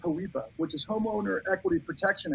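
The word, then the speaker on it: HOEPA: on polpa h or i think it's pronounced hawipa which is homeowner equity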